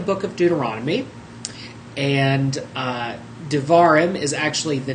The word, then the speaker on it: devarim: darar or words or devarim is actually how you pronounce it if you're trying to say it correctly and responds I uh